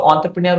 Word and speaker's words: entrepreneur: तुमने आधे रास्ते पे हम तो इसको एंटरप्रेन्योर नहीं प्रोनाउंस करेंगे। इसको एंटरप्रेन्योर प्रोनाउंस करेंगे। क्यों संदेश सर? इसका एक वैलिड रीज़न दूं ना तो एंटरप्रेन्योर क्यों? क्योंकि this word is taken from a French verb. ये एक फ्रेंच वर्ब से लिया गया है।